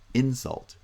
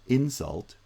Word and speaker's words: insult: Insult, research, conduct, combat, record. But when the same words are used as verbs, they get final stress.